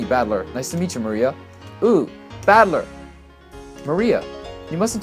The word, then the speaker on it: Maria: Her name is written, of course, is pronounced Maria.